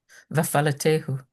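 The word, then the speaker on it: וַאֲפַלְּטֵהוּ: So after the tet, because we get a well, every syllable starts with a consonant. Hey is a consonant, so it has to start the next syllable. So va'a, fal, lete, hu.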